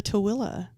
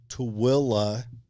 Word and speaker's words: Tooele: Now, we are in the town of Tooele, Utah. Mm-hmm. That is spelled T-O-O, Illy. It is not spelled anything like it sounds. No. And it does not sound anything like it's spelled.